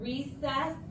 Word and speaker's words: recess: This word recess is a little different. It has the soft C in the middle.